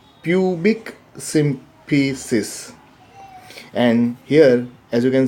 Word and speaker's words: pubic symphysis: as, now here also we are not pronouncing this as pubis symphysis, actually it is pubic symphysis.